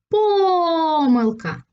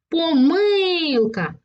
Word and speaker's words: помилка: тут на третій склад помилка на перший склад але це слово можна вигукнути ще Ось так помилка і тоді наголос буде падати на другий склад А ось Останнє слово